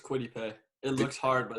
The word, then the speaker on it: Kwity Paye: And 15, Giants would take, I can't pronounce his name, but Kawhi Payne, edge rusher. Kwity Paye. It's just Kwity Paye.